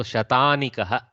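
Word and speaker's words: शतानीक: So okay, so sometimes when they write in English the dirgha hrusva is a bit lost, so I hope I am pronouncing it right in Sanskritam. Shatanika. Shatanika. Thank you, Brata. So Shatanikah. So there is a dirgha akara.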